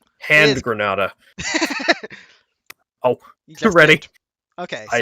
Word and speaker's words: Granada: yeah grandma it's the white thing on the box should be pronounced grandma i don't know i pray on granddad no it's gross it's granada and granada oh you're ready okay i am portugal okay